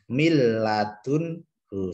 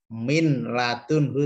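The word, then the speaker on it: مِن لَّدُنْهُ: Cara bacanya tidak dengung, tidak ditahan, tidak boleh gini. Mil ladunhu tidak boleh, tapi langsung mil ladunhu. Atau min ladunhu tidak boleh, harus masuk ke lam karena idgham bila gunnah.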